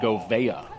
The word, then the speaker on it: Govea: Coach Bogner said Govea. Govea. We'll go with it. Govea. Govea. All right. Thank you to Coach Bogner for getting that pronunciation up to the box.